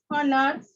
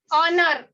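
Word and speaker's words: honour: ये एच जो है लिखने के लिए है, लेकिन बोलने के लिए नहीं है, ये साइलेंट लेटर में शुमार होता है। तो यहाँ पर हम इसको डायरेक्टली पढ़ेंगे ऑनेस्ट, आर, ऑनर, यानी ये डायरेक्टली शुरू किससे हो रहे हैं? वॉवेल साउंड से। इसके लिए इसके पहले हम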